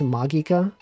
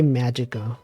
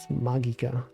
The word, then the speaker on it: Magica: beloved anime you guys know it's called It's pronounced magika some people they say Magica they don't know they're pronouncing it wrong magika it's true look it up Mendelssohn is a